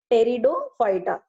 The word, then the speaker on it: Pteridophyta: Third division called as Pteridophyta. Here P is silent, so we call it as Pteridophyta.